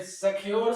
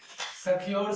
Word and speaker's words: सख्युर: सख्यूर बोलोगे तो ऊ दीर्घ हो जाता है ना।